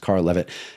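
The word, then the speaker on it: Karel Lewit: Um there's a a guy, his name is Carl Levit, looks like Carol Lewitt, but it's pronounced Carl Levit.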